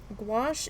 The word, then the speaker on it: gouache: to pronounce that yeah squash like squash but with a G and um gouache is reactive so that